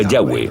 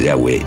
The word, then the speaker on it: Yahweh: Pensamos que probablemente se pronunciaba Yahweh o algo así.